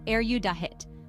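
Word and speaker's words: erudite: often in a specific field of study the pronunciation is audit with the stress on the second syllable use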